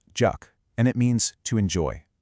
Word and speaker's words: 적: The second, jeok, is pronounced juk, and it means to enjoy.